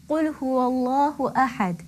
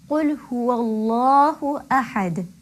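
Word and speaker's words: قُلْ هُوَ اللَّهُ أَحَدٌ: The waw that precedes the lam in Allah has a fatha. It carries a fatha. So therefore the Allah, the lam in Allah will be pronounced heavily. Qul huwallahu ahad. I'm sure you could hear the heaviness of the lam coming through.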